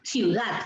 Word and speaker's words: ciudad: Yo vivo en una ciudad, y no es así, ¿no? Es ciudad. Yo vivo en la ciudad, ¿no? Entonces, la fuerza de voz está en dat.